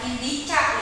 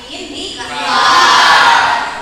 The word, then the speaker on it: indikator: Dan harus tingkatkan lagi dalam pembacaan harus dengan intonasi yang tepat, terus pembacaan yang tadi bukan indicap ya, tapi indikator itu bacanya.